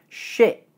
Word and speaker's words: shit: The word shit has a completely different vowel sound, the sound I.